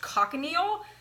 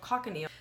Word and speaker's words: cochineal: So I looked it up, and carmine is actually what's called, I think it's pronounced cochineal.